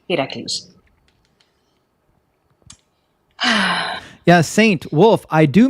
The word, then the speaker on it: Heracles: Stephen Adams, the pronunciation is Heracles. Like Hera, the goddess, Cles, Heracles.